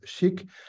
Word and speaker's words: SCHC: So SCHC stands static context header compression, but we pronounce it Chic and the future.